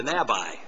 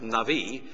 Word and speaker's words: navi: college they called me the nabbi which is a very poorly pronounced Navi which is the prophet uh and by that